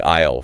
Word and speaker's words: aisle: know if I've ever thought about how to pronounce this word before. Interesting. Like aisle, for example.